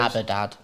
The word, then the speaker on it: Abaddon: Also, just to know, no Abaddon. Or wow. Abaddon, however you want to pronounce it. Tomatoes, tomatoes. Abadad, yeah. It's quite interesting. A lot of people have been using Abadad, the Don, and we